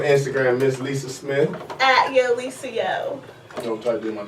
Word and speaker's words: YoLisaYo: Yeah, it's kind of like someone was saying, Yo Lisa, and then I'm like, yo.